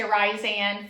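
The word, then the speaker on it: Rhysand: I say Ryzen. I'm pretty sure a lot of people say Ryzan from fucking A Court of Thorn and Roses, you know?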